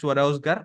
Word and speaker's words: Swarozgar: It's J. Though it's pronounced as Swarozgar, it's Swarozgar. ROJGAR.